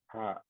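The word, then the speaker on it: ح: জিম হা হাটা একটু খেয়াল করুন। হা, আমাদের এই যে স্বাভাবিকভাবে কণ্ঠ যে আছে, তাতে দেখানো যাচ্ছে না, এই যে এইটাকে বলা হয় কণ্ঠ। এই কণ্ঠের মাঝের থেকে হা উচ্চারণ হয়, এই জায়গাটা একটু চেপে ধরতে হয়।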